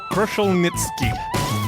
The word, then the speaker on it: Kruszelnicki: 50 Shades of Gray matter it's Dr Carl kushel nitzki very good pronunciation thank you and once again we have